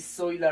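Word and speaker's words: Zoila: name is david uh i go like dj soy la rosa soy la rosa is spelled z o i l a if you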